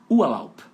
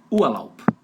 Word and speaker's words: Urlaub: Cara, esse R aí tá fazendo com som de A, ó. Ua.